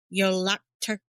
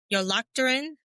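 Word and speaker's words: Jólakötturinn: Yolocturin. Yolocturin.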